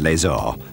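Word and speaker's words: Laax: before we actually look at laser which incidentally is the correct pronunciation all of us here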